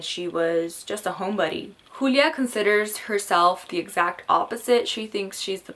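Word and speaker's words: Julia: old who uraeus and I say who Lea because the character is very specific on how she wants her name pronounced in the book so I will respect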